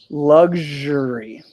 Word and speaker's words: luxury: Luxury. Luxury. Most of the time, the X in this word is going to sound like a G and then a Z.